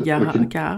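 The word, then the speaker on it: 青木ヶ原: forêt, mais je ne sais pas comment on prononce. Okay. Aokigahara.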